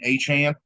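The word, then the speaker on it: Achane: ] ran Johnson over Devon a a aan which is how you pronounce it now Devon aan and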